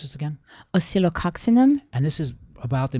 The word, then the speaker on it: Oscillococcinum: And along with the vitamin C, and how do you pronounce this again? Oscillococcinum.